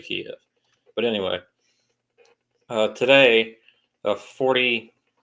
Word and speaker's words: Kyiv: They're right outside Kiev, which the media pronounces Kyiv all of a sudden, I've noticed. I don't know why they do that. They used to pronounce it Kiev. I still say Kiev.